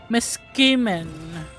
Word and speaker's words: Meskimen: It's Jim Miskemin. He's voiced Ultron in other Marvel games as well. Let me see if I pronounce that correctly. Ultron Jim. He's voiced by Jim Meskimen.